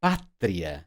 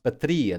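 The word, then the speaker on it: pátria: this would be pronounced facile this would be pronounced but no that's not the case we say Patria not Patria therefore the accent mark we say facil not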